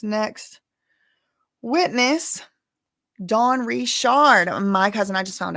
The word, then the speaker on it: Richard: I'm saying Richard cuz that's how she says her name, and that is how it's spelled, so hm. Sometimes I I might accidentally say Richard cuz I've been saying that for a year.